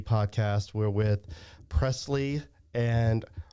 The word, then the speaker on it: Preslie: We're with Preslie and Raeleigh, right?